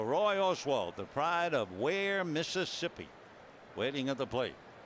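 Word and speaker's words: Weir: 32 years old come the 29th of August, from Kosciusko, Mississippi, and lives in Ware. Ware is spelled W-E-I-R, and they have maybe 500 people living in the town.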